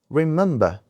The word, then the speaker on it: remember: Remember we have three syllables here. The second syllable is stressed.